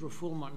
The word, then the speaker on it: refoulement: I think it's refoulement. It's not foul, it's fool. Very good, Your Honor.